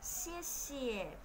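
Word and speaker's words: 谢谢: Thế và chữ xì thì phát âm tương tự như chữ c trong tiếng Việt. Xie xie, xie xie, cảm ơn đấy các bạn.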